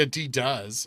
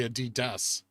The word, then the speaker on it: Adidas: how I pronounce it I don't say a d does I say a dust which I guess is